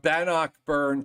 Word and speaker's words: Bannockburn: crazy names that are so difficult well from Bannockburn to it it is Itasca Itasca sounds good